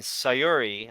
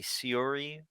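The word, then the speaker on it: Syuri: number two shocker and sayori I hope I'm saying that right at number three might be Siri like Siri it could be like Siri but it's spelled s-y-u-r-i Mexico MVP Elijo Del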